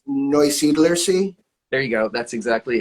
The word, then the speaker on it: Neusiedlersee: And going to attempt to there you pronounce go. it. I think I know how to do it. It's Neusiedlersee.